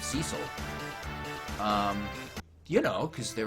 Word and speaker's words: Cecil: they were young actually really just pronounced it cesil from from the Geto instead of Cecil um you know cuz